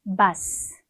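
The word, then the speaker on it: basse: 쓸 때 은의 의미거든요 남성형 읽어볼게요 바 바 S 발음 안 하고요 여성 형은요 바스 바스 이렇게 바뀝니다 자 새로운이라는 뜻의 형용사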